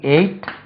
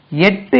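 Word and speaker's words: ate: இதுக்கு எயிட்டுக்கு உச்சரிப்பு கவனிங்கோ. எயிட் இப்படி ஒன்று இருக்கு. எட்டு என்று ஒரு உச்சரிப்பு இருக்கு. இதுதான் ஃபர்ஸ்ட் சொல்லும். டிக்ஷனரியில் பார்த்தீங்கன்னா எட். ஐ எட் my breakfast. ஈட் எட் ஈட்டன் eating. ஈட் எயிட் ஈட்டன் eating. இது ரெண்டு உச்சரிப்பும் போடலாம். ரைட்.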